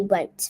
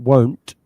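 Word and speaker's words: wont: Yeah, it's not won't. Won't means will not, it's want.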